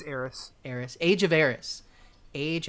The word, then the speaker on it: Aeris: Age of is it Arius, you think? It's Eris.